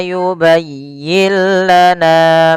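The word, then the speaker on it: يُبَيِّن لَنَا: Ya, di sini pada lafal, kemudian pada lafal yubayyin lana, di sini kita lihat, kita langsung membaca kepada huruf lamnya. Yubayyin lana. Nun di sini dianggap tidak ada.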